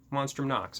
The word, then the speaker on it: Monstrum Nox: I probably just butchered that name. No, I said it right. Monstrum Nox.